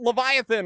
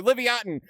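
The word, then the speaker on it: Livyatan: Speaking of fish, I was going to talk about Leviathan or Livatin. Uh, if you don't know, Leviathan or Livatin, depending on how you want to pronounce it, uh, is this absolutely massive cousin of the sperm whale.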